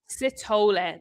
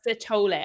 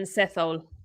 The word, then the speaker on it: Sithole: Sitole. That's how you pronounce it. The H is silent. Sitole, according to my commentators, anyway.